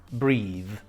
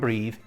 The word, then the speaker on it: breathe: e so when we have the silent e after a th the th becomes strong breathe okay breath is the noun and breathe is the verb but the e makes a difference in the pronunciation so breath and breathe I can hardly breathe